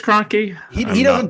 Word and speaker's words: Kroenke: Cronky, I Crunky. think it's Kroenke. He I'm doesn't not deserve positive. to have his name pronounced correctly.